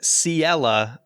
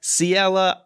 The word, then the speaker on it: Ciela: him at a so ciela i pronounced her name totally wrong in my phantom hourglass review but siela i think is just